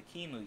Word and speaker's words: QEMU: Before you install it on an actual computer, I would recommend that you use the Kimu utility spelled like this.